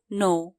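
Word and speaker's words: know: जानू थहा प नो के एन O double you नो यहां के साइलेंट हु्छा के एन ओ डबल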